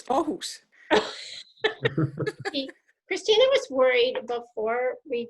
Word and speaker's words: Aarhus: We were a couple of years ago at Ahurst. I don't know if I even said that right. We were at a college there, and did I say it right, Christina? No, it's Aarhus.